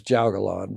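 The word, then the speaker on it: jiaogulan: only grow one plant you said grow this juggalon because it's a how do you spell that j-i-a-o-g-u-l-a-n all right thanks uh um so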